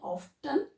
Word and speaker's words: often: Next, often hardly here you should not tell often. The T is silent.